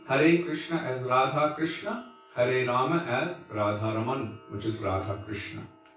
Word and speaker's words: Rama: saying instead of so there's a difference when you say rama with the accent on the bow ah the first a versus the last a the first one according